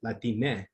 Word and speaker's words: Latine: hearing around two is the term latine kind of um that rhymes with gente and people are feeling